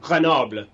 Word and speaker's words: Grenoble: How do you pronounce Grenoble in the French, you know? Grenoble.